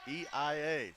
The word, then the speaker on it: Eia: pronunciation of eia correctly he said it's eia kind of say it like that so thank you luke